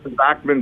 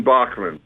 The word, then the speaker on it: Bachman: Bats and dots. Bachman Bachman. Okay. So, you just you just responded to Bachmann.